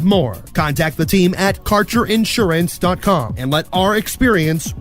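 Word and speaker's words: Kaercher: Quality cannabis Insurance Services is spelled k AE r c h e r that's carer insurance we have worked with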